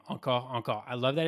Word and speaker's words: Encore Encore: Obviously, since we're French, we wanted to have like something that a bit sounds good to us, but also that can be pronounced in English. Encore, encore, encore, encore. You can, whatever you want to float your boat.